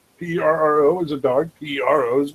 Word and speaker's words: perro: Perro.